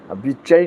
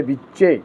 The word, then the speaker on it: विच्चे: कई लोग इसका गलत उच्चारण कर लेते हैं, ध्यान नहीं देते। चामुंडायै नहीं है, चामुंडायै, विच्चे नहीं है, विच्चे।